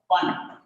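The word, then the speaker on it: Pfund: Fund. P silent letter.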